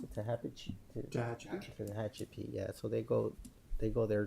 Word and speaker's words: Tehachapi: I think one to is it how you pronounce it? Tehachapi.